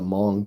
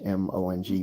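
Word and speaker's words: Hmong: have you have the the Mong people that's spelled h m o n g but they called the Mong there sort of like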